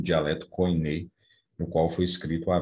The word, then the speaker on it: koiné: É o chamado grego koiné, ou kini, ou koiné, existem várias formas de pronunciar, que significa comum.